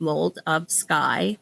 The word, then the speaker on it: Moldofsky: under my name um my last name is spelled like mold of sky.